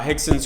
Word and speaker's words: Rickson: in Portuguese I think it's a language it's pronounced instead of Rex and Gracie Jaco willing once visited uh hixson's Gracie Academy or school and when he got